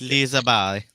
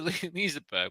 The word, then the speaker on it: Liseberg: Just make sure you pronounce Lisa Barry right to the people in Sweden. They don't like Lisa Barry. Why are you here? Barry. Oh, we're going to Liseberg.